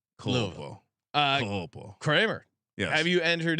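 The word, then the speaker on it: Culpo: I think it's like pronounced like Louisville. Colpo.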